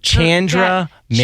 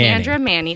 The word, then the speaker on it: Chandra Manning: Chandra Manning. Chandra Manning.